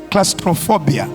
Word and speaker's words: claustrophobia: u s r o phobia how do you pronounce that claustrophobia claustrophobia I mean the fear of enclosed places